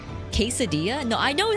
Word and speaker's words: quesadilla: Do you also say quadilla? Quesadilla. No, I know how to pronounce that one.